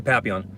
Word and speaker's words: Papillon: very heavyset Chihuahua yeah you could probably the Papillon oh and that is the right way to